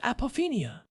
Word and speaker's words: apophenia: It is a state called apophenia. that is spelled A P O P H E N I A.